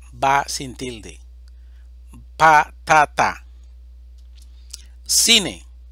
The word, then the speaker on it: cine: sin tilde pa tata cine división silábica siine sílaba tónica si palabra grave terminada en